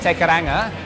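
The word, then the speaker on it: Te Kairanga: Starting off with TK, or how do you properly pronounce it in New Zealand? Tekaranga.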